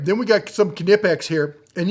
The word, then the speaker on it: Knipex: All right, then we got some Knipex here, and yes, you pronounce the K.